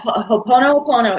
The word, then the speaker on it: Ho'oponopono: So what Ho'oponopono is, Ho'oponopono, Ho'oponopono.